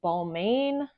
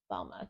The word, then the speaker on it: Balmain: Paris now I did originally think it was balain Paris but evidently um I was mispronouncing it it is called balma par and the a is silent so it's pronounced balma but if I do slip up please be